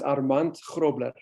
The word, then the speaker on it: Armand: anyone wants to know go ahead yes it's pronounced armand all right so i'm still practicing that's why